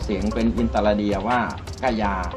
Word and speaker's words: คยา: ที่ เรา ออก เสียง เป็น อินตรา เดียว ว่า กายา มี นะ ใน ปัจจุบัน เนี่ย มี ข้อ สันนิษฐาน